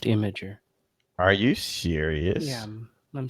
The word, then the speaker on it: Imgur: It's Imager. Their site explicitly says it's pronounced Imager.